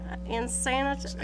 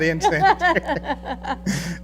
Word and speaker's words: unsanitary: Unsanitary. Unsanitary. Unsanitary, Yes. I think it is. Thank you. Not insane. Not insanitary. Unsanitary for human habitation.